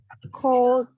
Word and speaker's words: could: Ya, dari can jadi Cold. L-nya jangan dibaca. Cold. Could.